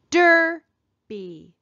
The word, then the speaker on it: derby: Here's another word, derby, derby. Where do we hear the accent? Derby, derby. We hear it in the first syllable.